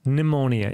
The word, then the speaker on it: pneumonia: Но по-английски в любом случае get pneumonia. И, кстати, произношение этого слова тоже давайте отдельную секундочку этому уделим. Pneumonia. Pneumonia. Pneumonia. Pneumonia, да, то есть не вот это пи не читается вообще, просто...